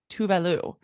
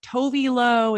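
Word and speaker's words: Tove Lo: So she's Swedish and her name pronounced in Sweden is Tuvalu.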